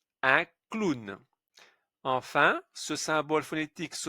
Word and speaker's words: clown: Un O avec un W, c'est une exception. Un clown.